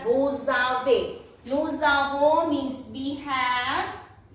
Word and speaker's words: vous avez: This is also here again S is followed by a vowel, so it will pronounce as vous avez.